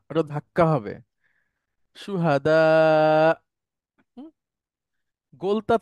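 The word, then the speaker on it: شهداء: শেষে জবরজের পেশ আছে এবং ওটা যাই থাকুক না কেন, হামজা থাকলে, হামজা যখন সুকুন হয়ে যাচ্ছে তখন আর সে উচ্চারণ হচ্ছে না, একটুখানি ধাক্কা দিয়ে পড়তে হয়। হ্যাঁ? সুহাদা, সুহাদা, সুহাদা, এভাবে।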